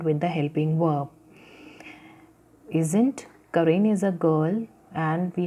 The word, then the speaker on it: Karen: Sorry, it's Karen. I have pronounced it as a Karan. It's Karen.